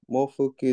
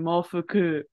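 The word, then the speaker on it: 毛布: How do you say blanket? Mofu? Hi, mofu. Perfect. Mofu. I don't know, I thought you were adding a ku in there. I was hearing mofuku.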